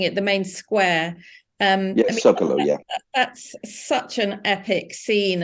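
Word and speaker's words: Zócalo: Even the Zacola, is that the right way of pronouncing it, the main square? Zocalo, that's such an epic scene, and it is.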